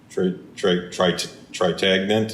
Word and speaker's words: Trintignant: Tritagnant. That's good. That's how you say it.